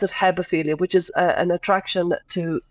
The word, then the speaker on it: hebephilia: Like, you know, there's pedophilia, but there's also, I think you pronounce it hebephilia, which is an attraction to teenage girls, if you follow me.